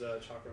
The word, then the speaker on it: chakram: A chakran. Chakram. Chakram? Yes. Yeah, chakram. That's what it's pronounced.